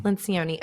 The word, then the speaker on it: Lencioni: Lencioni, okay.